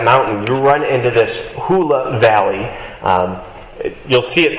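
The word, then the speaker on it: Hula: looking up things today it might just be hoola as in the hoola dance uh that's it's how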